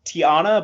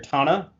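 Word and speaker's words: T'Ana: wigman as dr tana i thought it was tiana but apparently you pronounce it dr tana fred tataskiori i'm sorry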